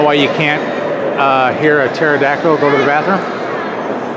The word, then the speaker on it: pterodactyl: So, do you know why you can't hear a pterodactyl go to the bathroom? Because the P is silent.